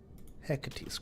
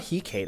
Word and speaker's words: Hecate: Hecate's Crescent. I think I'm pronouncing that right. It's not Hecate. I'm pretty sure it's Hecate.